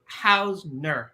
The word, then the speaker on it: Hausner: So I want to welcome you, and it's Hausner, right? That's the correct way to say it, Hausner.